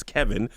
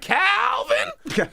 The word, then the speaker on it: Kevin: And she could never pronounce my name. My name is Kevin. She'd be like, Calvin.